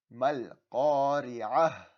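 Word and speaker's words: القارعة: But that last ta I will pronounce with a ha sound. Okay, so pay attention. Mal qari'atu, waqf. Mal qari'ah.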